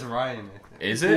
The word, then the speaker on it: Rian: They should have kept the same director, Rianne Johnson instead. Ryan. Rianne. I thought I thought that's how he pronounced his name. No, it's Ryan, I Is it? It is Ryan, but it's spelled like an idiot.